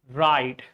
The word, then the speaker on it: write: Which letter is always silent in write? Of course, we all know that W is silent. There is no sound of W.